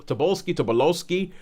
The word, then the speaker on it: Tobolowsky: It is Ned Ryerson, Stephen Tobolsky. Yeah. Tobolowsky. I've never actually heard that name pronounced out loud.